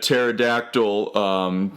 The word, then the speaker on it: pterodactyl: you can't hear a pterodactyl go to the bathroom because they're dead and like honestly it's either that it's literally either that or because the P is silent and it's so [